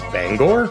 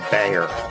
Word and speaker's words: Bangor: Land Transportation Museum in I had thought it was Bangor but no I'm from not there it's just pronounced Banger Point made the museum